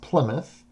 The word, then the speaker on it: Plymouth: group established the plymouth colony and it is pronounced plymouth in what is now massachusetts so this is